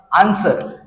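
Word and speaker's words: answer: होतो तर पहा याठिकाणी फर्स्ट एक्झाम्पल आहे आन्सर आणि आन्सर हा शब्द वाचन करत असताना आपल्याला या ठिकाणी पाहायला मिळेल की आपला नियम जो सांगत आहे एस नंतर जर डब्ल हा लेटर आला तर या ठिकाणी डब्ल हा लेटर आपल्याला सायलेंट ठेवायचा आहे म्हणजे याच वाचन आपल्याला आन्सर अशा प्रकारे करायचा आहे लक्षात घ्या आन्सर त्याच्यानंतर सेकंड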